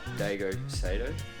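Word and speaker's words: Daigo Saito: Apparently they were designed by ZESTINO for the Japanese drifter Daigo Sato.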